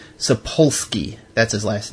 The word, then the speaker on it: Sapolsky: I can't pronounce his last name. It's Sapolsky.